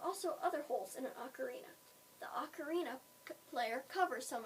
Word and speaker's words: ocarina: Ocarina is pronounced ocarina.